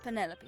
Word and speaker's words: Penelope: penny pointer pleasure is that short for penelope officially yes but i never can be bothered with all four syllables of it penelope sounds a little ostentatious